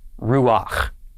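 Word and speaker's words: רוּחַ: of the special rule we just mentioned we pronounce the patak first so instead this becomes ruach ruach means wind like a gust of wind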